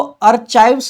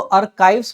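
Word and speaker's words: archives: ध्यान दीजिएगा, इसको आर्चाइव्स नहीं पढ़ेंगे, इसको आर्काइव्स पढ़ते हैं। यहाँ पे CH का जो प्रोनाउंसिएशन है वो क होता है, ना कि च।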